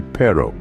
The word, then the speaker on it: perro: soon when you say Perro make sure to roll your RS just a little it's a classic Spanish